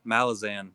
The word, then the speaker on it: Malazan: Malazan.